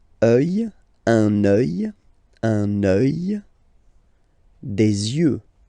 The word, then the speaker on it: yeux: Des yeux, des yeux, des yeux. Yeux, okay? Don't pronounce the final X as usual.